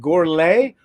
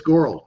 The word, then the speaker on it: Gorle: forgot to ask you is it goret or gor or how is it it's goral the E is silent goral so it is a